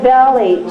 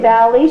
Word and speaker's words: valley: Southern I don't know she'll say like valy she won't say Valley she'll say valy that's a southern pronunciation Deep South say I